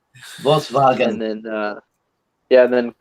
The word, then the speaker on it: Volkswagen: in english we say volkswagen volkswagen and then uh yeah then kevin gave says uh ws are pronounced as vs vssnw my mom is